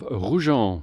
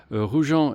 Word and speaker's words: Roujan: Hello and welcome back to the channel, and welcome to the village of ROUHAN, which is spelt R-O-U-J-A-N. ROUHAN is one of the villages that serves the historic town of Pézenas.